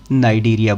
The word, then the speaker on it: Cnidaria: इसमें यह सी साइलेंट है तो आप लोग इसको फाइलम नाइडेरिया बोलेंगे।